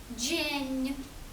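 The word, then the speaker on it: dzień: Наприклад, літера е з крескою читається як нь. Так, наприклад, у слові джень.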